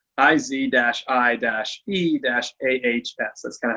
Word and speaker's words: Isaias: It's Isaias, IZ-I-E-AHS. That's kind of how you pronounce it.